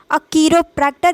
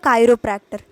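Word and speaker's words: chiropractor: कीरोप्रैक्टर या कायरोप्रैक्टर, कीरो बोलना प्रेफर करिएगा क्योंकि प्रोनाउंसिएशन वैरी करता है, यूके में अलग, यूएसए में अलग, उस हिसाब से भी प्रोनाउंसिएशन थोड़ा वैरी करता है, बट आपको जो सही लगे वो आप प्रोनाउंस कर सकते हैं।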